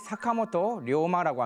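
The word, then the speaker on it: 坂本龍馬: 이 분은 이제 이름이 사카모토 료마라고 합니다. 사카모토 료마. 한자로 이제 용마라고 쓰는데 료라는 게 여기도 장음을 해줘야 돼요. 그냥 사카모토 료마 이러면은 일본 사람들은 누군지 못 알아듣습니다. 그래서 사카모토 료마라고 확실하게 얘기를 해줘야 되는데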